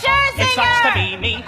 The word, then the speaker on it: Scherzinger: It's pronounced Scherzinger.